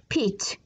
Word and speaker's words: Pete: aso t da 5 is a magic e jadosnore e anu gamodis pit p e t e